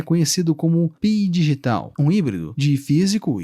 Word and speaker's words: phygital: nas mídias sociais o fenômeno é conhecido como P digital um híbrido de físico e digital notas do narrador o texto P digital se escreve p h y g i t a